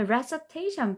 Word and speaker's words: recitation: 자, 그다음에 recitation 발음 바뀌었는데요.